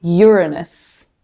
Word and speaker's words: Uranus: The correct pronunciation is actually Uranus.